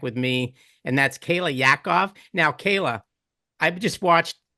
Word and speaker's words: Yaakov: I'm not kidding, but he actually pronounces her name perfectly. Doesn't he, Kayla? I mean, Yeah, Yaakov.